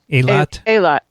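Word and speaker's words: Eilat: or write lot yeah a lot a lot well it depends it depends who you which pronunciation online you listen to whether the accent's on the first syllable or the or the second syllable but it's uh the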